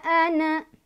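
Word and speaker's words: أنا: Nah, di sini walaupun ada alif, ada pemanjang karena di atas alifnya ada tanda bulatan lonjong seperti ini. Ini namanya sifir mustatil. Sifir mustatil. Artinya, walaupun ada alifnya, karena di atas alifnya ada buletan ini, dibacanya jadi pendek aja. Jadi, wala ana, gitu. Wala ana'a, gitu. Jadi, ini kalau diwasal atau disambung, dibacanya pendek ya.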